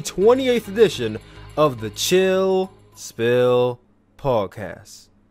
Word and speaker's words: Spill: This is the 28th edition of the Chill Spill Podcast. The S is silent, by the way.